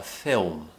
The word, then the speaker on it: film: However, in the UK, we refer to it a little bit more as being called a film. Film. Again, we're creating this very round shape for the dark L.